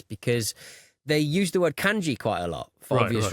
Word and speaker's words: kanji: And one of them was just hilarious because they used the word kanji quite a lot for obvious reasons in Japan. But they pronounced it kanjai. No. It was really discombobulating.